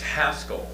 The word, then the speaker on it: Haskell: to throw out that it's actually pronounced Haskell to whoever said that just now.